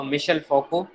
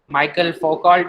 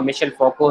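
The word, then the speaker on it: Michel Foucault: इनमें एक जो है बड़ा स्कॉलर जो है वो मिशेल फोको, माइकल फोकॉल्ट भी बोलते हैं इसको स्टूडेंट्स, लेकिन इसकी जो प्रोनाउंसिएशन है वो मिशेल फोको है.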